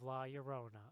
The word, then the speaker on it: La Llorona: to John it's something you're saying it wrong it's the curse of the curse of La Llorona okay thank you no